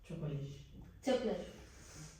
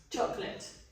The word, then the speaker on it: chocolate: ¿Cómo se pronuncia esto? Chocolate. Chocolate.